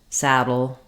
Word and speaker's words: saddle: So in saddle, we have letter A saying the A vowel.